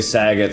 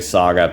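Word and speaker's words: Sagat: know some people say Saget some people say Saga but yeah I think it's more like Bob Saget so I I think his name is cigar that's how I pronounce it um and then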